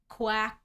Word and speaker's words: Kwak: Quack, like a bird? Quack, kind of, but it's spelled Kwak.